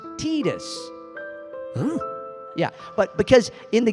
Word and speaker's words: Tidus: how well see now most people say Titus right yeah yeah yeah yeah but it's actually pronounced Titus yeah but because in